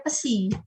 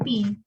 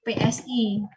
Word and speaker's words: psi: Jadi kalau huruf ini kalau seperti W, jadi seperti U diberi garis begini, ini adalah bacanya pesi, bukan pi. Ya, PSI.